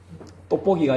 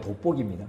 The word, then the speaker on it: 돋보기: 떡볶이가 아니고 돋보기입니다. 아예 발음이 좀 그렇습니까?